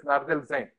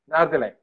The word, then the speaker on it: Nardeline: You don't pronounce it as Nardelzine, Nardeline.